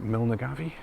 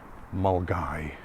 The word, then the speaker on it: Milngavie: do you pronounce it is it mil nagavi mil nagavi any take us on milavi it's actually Maly yep you pronounce it m guy folks goodness knows why but it's one of the uh most mispronounced Town names in Scotland so we are today